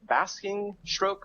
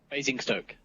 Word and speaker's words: Basingstoke: She represents the city of Basingstoke. Am I saying that right, Arosh? Basingstoke. That one. You're saying it wrong.